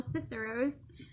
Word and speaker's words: Cicero's: Hi there, and welcome back to my channel, Cicero's. That's how you pronounce it, by the way, Cicero's.